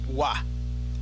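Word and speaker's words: は: The first particle is W spelled written as ha but actually pronounced as wa.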